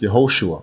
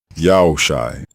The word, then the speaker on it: Yehoshua: means ya'll is salvation the second version is not pronounced yehoshua or joshua it is pronounced shai yao shai and it also means yao is salvation the root verb in